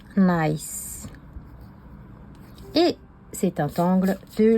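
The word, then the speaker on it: Gniss: G n I 2 S mais ça se prononce Nice et c'est un Tangle de la compagnie Zentangle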